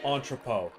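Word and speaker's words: entrepôt: Entropo. The last T is silent.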